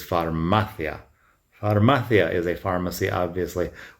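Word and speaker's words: farmacia: It is not pharmaththeia. It is pharmathia.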